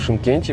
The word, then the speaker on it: Шымкент: И, кстати, почему пишется Шымкент? Жиши, как мы знаем. Раньше этот город назвали больше на Че, то есть это Чимкент. Шымкент. Те, кто здесь живут давно, они в основном сейчас говорят Чимкент.